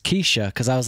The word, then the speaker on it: Keyshia: Kesha Joe confirmed that her name was actually pronounced Kesha cuz I was like is it not kashia Kaya my he's like no it's Kesha I know this I I I couldn't tell